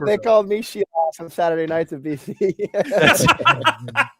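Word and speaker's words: Scheelhaase: I just learned that it's pronounced Scheelhaus, so that's really good for me. Yeah, by the way, just my big takeaway. I had to make sure it was pronounced Scheelhaus.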